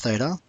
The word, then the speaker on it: theta: it has an angle marked here which is Theta that symbol is a Greek symbol pronounced Theta and spelled like that now notice here that